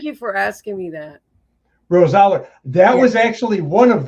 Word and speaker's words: Rosaler: pronunciations. Thank you for asking me that. Rosaler.